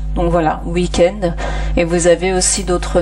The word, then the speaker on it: week-end: Deux prononciations différentes, par exemple le W de wagon, donc là vous entendez V, wagon, comme le V, ou l'autre prononciation, donc c'est comme week-end, donc c'est souvent lorsque